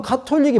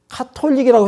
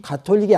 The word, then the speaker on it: 가톨릭: 합니다 완전히 인위적인 거예요 영어로 하면 가톨릭이 발음이 맞아요 또는 카톨릭 이렇게도 하는데 그냥 우리 식으로 할 때는 카톨릭이라고 해야 맞는 것이지 가톨릭이 아니란 말이에요 그러면 왜 그들이 그렇게